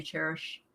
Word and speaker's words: Chairish: Cherish is spelled Chairish. Let me show you Cherish, because Cherish is amazing.